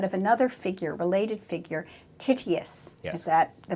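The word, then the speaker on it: Tityus: a Prometheus but of another figure related figure titty asst is that the pronunciation yes is there I tell us about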